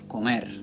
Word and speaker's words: comer: Those words, the natural stress is going to fall on the last syllable. Okay, not the second to last, the last syllable. So here you get a word like comer.